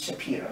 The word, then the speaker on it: Shapiro: You'll also find out that my name is Shapiro now, right? Mm-hmm. And in Philadelphia, they call it Shapiro. They spell it with an I, it's Shapiro.